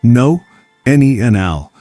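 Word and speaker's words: nonanal: Scientists have identified a compound called nanal, pronounced no nel, that's responsible for this distinctive change in body odor.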